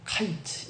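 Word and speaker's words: קיץ: 제가 발음이 좀 안 좋아서 그런데 이게 다 위에 거는요 카이트 이렇게 읽습니다. 밑에 거는 캐치 이렇게 읽어요. 근데 이 원어민들이 읽으면은 거의 발음이 같아요.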